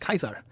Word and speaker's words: Caesar: It's pronounced Kaiser.